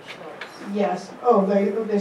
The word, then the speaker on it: Stoos: And they locals say STOOS.